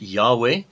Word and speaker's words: Yahweh: hebrew it is written yod and it is pronounced yahweh because our father's name in the hebrew is yahweh so i am the lord i am yahweh